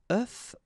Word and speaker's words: œuf: if you listen carefully, the pronunciation is changing quite much because for the singular form it's œuf, but then for the plural form here it's œufs, okay?